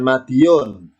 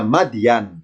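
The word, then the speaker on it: مدين: Apa bacanya? Bukan Madiun. Ya, kalau Madiun berarti Ponorogo, Jawa Timur. Ya, ini bukan Madiun, tapi bacanya Madian. Ya, bacanya Madian, bukan Madiun ya, Madian.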